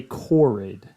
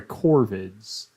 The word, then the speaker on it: corvids: I just it happens he's just pronouncing the uh genus for crows and ravens incorrectly he is meaning to say corrid these are oh sorry corvids corvids corvids Austin on that part